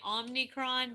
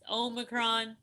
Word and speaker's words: omicron: yeah the the i i keep calling it omnicron but there's no n there so yeah it's omicron omicron i don't know how